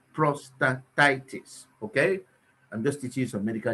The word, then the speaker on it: prostatitis: called prostate productivity prostatitis prostatitis just pronounce it prostatitis okay i'm just using